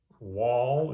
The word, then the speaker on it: Wahl: long as you're understanding that basic principle so wall is spelled WL fountain pen these were known as